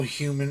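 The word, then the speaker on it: Heumann: i've seen personally uh l human and not like it's not like spelled like human um you can say h-e-u-m-a-n-n l human and company incorporated from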